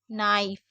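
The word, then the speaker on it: knife: जैसे नेक, नी, निट, need, नाइफ और knob. तो अगर कहीं पर भी के एन साथ में होगा तो हमें के को नहीं पढ़ना है, सिर्फ एन को पढ़ना है।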